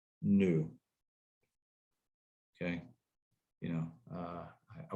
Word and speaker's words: nu: equals rho times nu okay oh this is pronounced new okay you know uh i wish i had